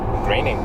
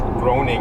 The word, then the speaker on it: Graining: It's like Matt Graining. Graining. Everyone thinks it's groaning or something.